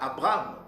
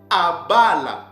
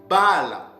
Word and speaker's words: Abraham: Ces mots-là ne se prononçaient pas, nos pères ne le prononçaient pas Abraham, non. Ces mots se prononcent ou se prononçaient Abala ou bien Bala.